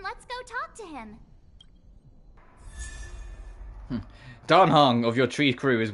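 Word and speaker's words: Dan Heng: I'm also learning that I've been pronouncing Danhung wrong this whole time. I've been calling him Danheng.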